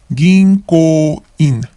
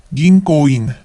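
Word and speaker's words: 銀行員: Ginko-in. Ginko-in. Notice that the N syllable or N becomes NG sound because it is followed by a K or ko. So it becomes ginko. Ginko-in.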